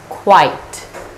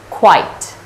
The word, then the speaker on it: quite: this is pronounced as quite quite like before the word starts with consonant cluster and then I as in light as in might as in tight and as with ta